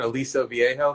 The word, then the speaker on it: Aliso Viejo: Aliso Viejo, California.